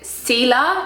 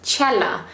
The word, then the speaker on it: Cela: pronounce your surname now a lot of people pronounce it ca because it's spelled c e l a but the correct way to pronounce it is Chella so my full name